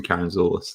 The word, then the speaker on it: Karantzoulis: So the K is easier to pronounce than Karantzoulis. That's how you actually pronounce it.